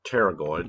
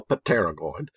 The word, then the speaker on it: pterygoid: right anyway they're called pterygoid the p is silent don't go pateragoid pterygoid process probably that